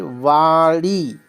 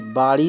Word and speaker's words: वाड़ी: होता है आगे देखिए वाड़ी वा वा होती है वाड़ी बाड़ी नहीं वाड़ी इसी प्रकार शब्द है